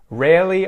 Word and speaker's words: rarely: R there very very rarely I pronounce the first are rare but I ignore the second one I ignore the second one so that's actually part of the vowel in Australian English instead of saying rare